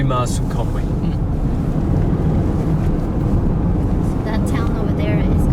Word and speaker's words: Conwy: So the pronunciation is see, in Spanish it will be Conwy. Yeah, Conwy, that's what we'd say.